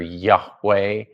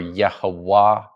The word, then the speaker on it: Yahweh: The Hebrew word is it's either Yahweh or Yehovah or even Yahol. There are various ways of pronouncing it.